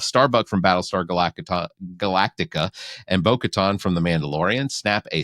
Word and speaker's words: Bo-Katan: It is Bo-Katan. Bo-Katan, whatever. You put it in. You make it sound like a beach resort. It's Bo-Katan.